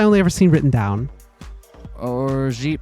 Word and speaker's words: orgeat: I I I know it's I know it's some kind of I believe it's pronounced orgeat. Orgeat? It's one of those words I only ever seen written down. Orgeat pronunciation.